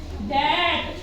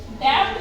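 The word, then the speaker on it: debt: इसको बोलेंगे लैम डप डी ई बी टी इसको बोलेंगे हम डट डेप्ट नहीं बोलेंगे इसको बोलेंगे डेट तो ी हमारा यहां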